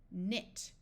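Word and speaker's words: knit: any prefixes or suffixes the K will be silent so this sound is n n not e e says e ne nit o w says o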